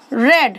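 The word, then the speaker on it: read: That I have ever रेड। रीड का third form रेड होता है, स्पेलिंग सेम होती है।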